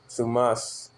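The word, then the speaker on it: θυμός: Thumas. Thumas. Strong G 220, no, it's like a 2372. Sumas. Okay, that's how they pronounce it.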